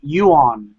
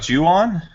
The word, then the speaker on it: Ju-on: I don't know if you'll tell me if I'm pronouncing it right. Yuan, right? Yeah. Yeah, it reminds me of Yuan. What's the English for Yuan? It's. Damn it, I forgot. Wait, are you talking about Ju-on?